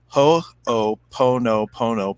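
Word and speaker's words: hoʻoponopono: that there you go it's hopo ho o po no pono prayer i'm sorry please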